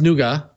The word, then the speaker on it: Nougat: draft dates to notes it's pronounced nuga yes it is and to thank you